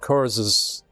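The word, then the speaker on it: Curze: night lords are conrad curses it's it i think it's supposed to be pronounced curse but it's cu or ze uh so curse but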